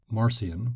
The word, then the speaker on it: Marcion: spelled MA our cion you'll also hear Marcion with a soft C was the man who